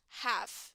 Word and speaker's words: half: is easier okay guys it is easier if you use half it means without the L okay um you can